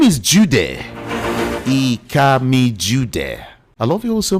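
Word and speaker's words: Ikamijudeh: I am EA Jud. I K A M I J U D E H. That's how to spell it.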